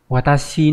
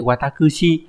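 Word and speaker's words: 私: Sono otoko wa watashi no. Cái chữ tư này có hai cách đọc là watashi với lại watakushi. Thì bình thường chúng ta đọc là watashi thôi, còn watakushi nó lịch sự quá.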